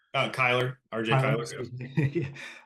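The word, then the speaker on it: Cyler: I'm going to mispronounce the last name as Crowler. Kyler, RJ Tyler, Kyler.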